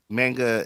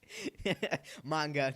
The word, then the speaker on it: manga: It's manga is what people who don't read uh manga say. manga.